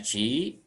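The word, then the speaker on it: ち: Ini dibacanya chi. Nanti huruf latinnya boleh T dan I saja, tapi bunyinya chi.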